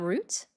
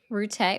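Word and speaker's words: Rutte: Are you talking about Matt Root? Rute. Whatever. No, I'm kidding. Yeah. It's how he pronounces his name. That's the correct pronunciation.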